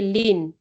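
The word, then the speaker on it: ln: So to differentiate a lean anything, is going to be 1 over whatever is next to this. We call it lean. We pronounce it as lean. This in is lean. Just say lean.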